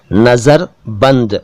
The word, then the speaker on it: नज़रबंद: जी हाँ, नज़रबंद का सही उच्चारण जैसा कि मैंने अभी अभी किया, नज़रबंद है, नज़रबंद, नज़रबंद नहीं, नज़रबंद।